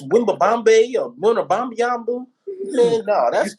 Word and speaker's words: Wembanyama: It's Wembanyama.